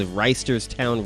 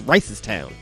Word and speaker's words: Reisterstown: Like, you know, I see that road that goes from the county into the city called Reisterstown Road. And people are like, it's not Reisterstown, it's Ricestown.